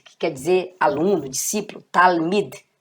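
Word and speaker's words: תלמיד: Olha como eu pronuncio Talmid, que quer dizer aluno, discípulo. Talmid. D. Porque termina com Dalet, com esse sonzinho de DH.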